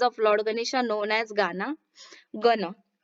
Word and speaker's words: गण: The show begins by singing the praise of Lord Ganesha known as गाना गण, sorry इसे क्या प्रोनाउंस करते हैं, गना कहते हैं, नॉट गाना।